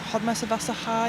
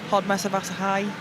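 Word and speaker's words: Hódmezővásárhely: Hodmesevassa High, I think how you say it in Hungary. Say that again. Hodmesevassa High.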